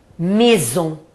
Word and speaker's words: maison: Por exemplo, as 2 vogais juntas, aí, vocês vão pronunciar E. Por exemplo, casa, maison.